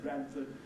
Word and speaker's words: Bradford: There's a famous Yorkshire town called Bradford, and that's the way they pronounce Bradford, in the town of Bradford. In the south here, we refer to their town as Bradford, but most of them call it Bradford. They've got a T there, if you like, usually